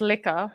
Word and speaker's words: Lurker: because it's always like it's pronounced liquor when he introduced.